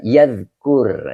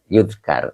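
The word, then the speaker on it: يذكر: Yadkur ya, bukan yudkar.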